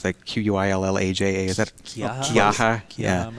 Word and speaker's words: Quillaja: I was worried about like Quillaja, or how do you pronounce that? Quillalaja? Is that Quillaja? Yeah. I'm assuming. Or I don't know, some other thing that I didn't see. I say Quillaya.